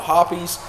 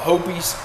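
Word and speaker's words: Hoppe's: Now, there's some controversy out there on how to pronounce this. I'm from the South, so I call it Hops. Some people call it Hoppies. Some people call it Hopies. There's all kinds of pronunciation for it, but I call it Hops Number 9 solvent.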